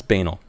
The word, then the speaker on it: banal: I didn't say it properly. It's banal. Banal.